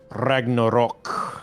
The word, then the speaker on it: Ragnarok: Ragnarok.